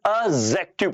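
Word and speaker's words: adjective: तो जैसे जब कभी कभी लाइफ में ना जे से पहले जो डी आता है वो हमेशा और हमेशा क्या होता है, साइलेंट होता है। इसलिए सर उसे ना एडजेक्टिव नहीं बल्कि हमें क्या पढ़ना चाहिए, एडजेक्टिव पढ़ना चाहिए।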